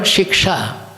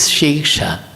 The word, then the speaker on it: śīkṣā: So we use the word shiksha, but here it is śīkṣā.